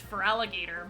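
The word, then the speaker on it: Feraligatr: So they just removed the O in gator and it still sound it's still pronounced for alligator but it's it ends with g a t r.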